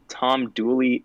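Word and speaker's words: Tom Dula: is dually or so it's pronounced tom dooley in north carolina but the name is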